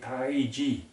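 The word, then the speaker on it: Taiji: So we should pronounce and say Tai Chi, T-A-I-J-I, but in the West you'll see it on books and on the internet, it's more commonly spelled as T-A-I-C-H-I. Either way it's fine, but you must understand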